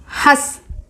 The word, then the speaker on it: हंस: हंस हंसना laughing. हंस इस एक पक्षी स्वान சொல்றோம்ல அந்த bird. हस हंस. see हस it's अनुनासिक. you should pronounce from the nose and the mouth.